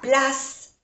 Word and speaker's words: place: Le musée est à gauche de la place principale. Place, no se pronuncia la E, la place principale.